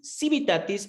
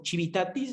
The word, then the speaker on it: civitatis: estatus libertatis el estatus civitatis civitatis había escuchado personas que lo pronuncian con la che y el estatus familiar